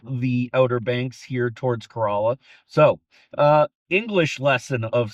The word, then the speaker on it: Corolla: But the English lesson Corala is spelled like a Japanese car that some of you may be familiar with, but it is pronounced Corala, not Corolla.